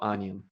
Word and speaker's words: onion: И также слово onion.